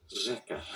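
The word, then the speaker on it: řeka: You don't see here ersh eka. This means river, by the way. Instead, it's pronounced reka.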